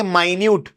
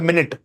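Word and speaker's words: minute: जैसे अपन इंग्लिश देखें, माइन्यूट और मिनट, दोनों की स्पेलिंग सेम है ना, दोनों का सब कुछ सेम है, लेकिन उनका ट्रांसलेशन और प्रोनाउंसिएशन अलग है।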